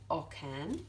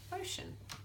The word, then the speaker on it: ocean: sea so soft sound so we don't have Oken we have ocean OC e a n so that might help you remember why there he is there next to the sea to make it say it's a soft sound so ocean okay what